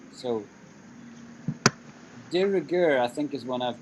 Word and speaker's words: de rigueur: De rigueur. How is pronounced, teacher? Sorry. De rigueur. De rigueur.